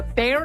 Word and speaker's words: Baier: told you we were going to have a bear themed cocktail for fat bear week but we